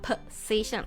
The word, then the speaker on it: position: position อ่าน ว่า position นะ คะ เพะ position เพราะ ตรง สี มัน ดัง โพ มัน ก็ เลย กลาย เป็น สระ เออะ position position ต เป็น เสียง z ด้วย position position position ต่อ